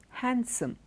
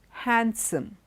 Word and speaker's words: handsome: is not stressed Wednesday handsome it's not handsome sand sandwich not sandwich okay sandwich Wednesday handsome handkerchief in all these letters the D is silent okay and that is